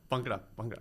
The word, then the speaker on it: Bhangra: Bhangra.